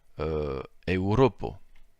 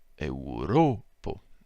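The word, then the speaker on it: Eŭropo: l'utilise dans le mot Europo. Donc là, on voit que la diphtongue est au départ, alors que dans les autres, non. Et que l'accent tonique, lui, se trouve sur le ro.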